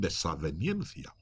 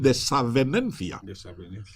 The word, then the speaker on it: desavenencia: Pero cuando oigo a la gente hablar, dicen desaveniencia. Ningún diccionario castellano va a decir desaveniencia. Es desavenencia. Entonces, cuando utilizo el diccionario ya me corrige, ya me indica que esto no hay que pronunciarlo así, ¿no?